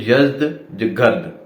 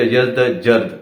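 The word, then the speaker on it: Yazdegerd: और उनके जो आखिरी रूलर थे वो थे यज़्दगर्द, ठीक है, यज़्दगर्द या यज़्दजर्द दोनों प्रोनाउंसिएशन की जाती हैं।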